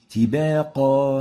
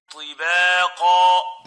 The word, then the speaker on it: طباقا: While the second mistake is attenuating the ta, so it would sound as if it is a ta. Example, tibaqa, tibaqa, T instead of ti. Tibaqa, this is wrong. We need actually to pronounce it as a ta, like this.